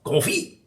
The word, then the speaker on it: confit: uh c o n fi T and it's pronounced Ki you don't have to have to laugh and